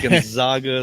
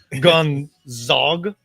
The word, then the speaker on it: Gonzaga: AAR, UCSB, and Pepperdine for basketball at Gonzaga, St.